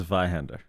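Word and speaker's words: Zweihänder: It's pronounced Vihander.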